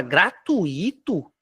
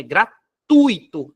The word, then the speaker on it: gratuito: proparoxítono tá correto agora gratuito gratuito tá errado não existe gratuito é gratuito não tem esse acento no i é gratuito Beleza então